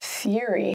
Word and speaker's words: theory: Theory. Theory has two syllables. We pronounce it theory. Theory. So even though there's an O written there, it's silent. The emphasis is on the first syllable.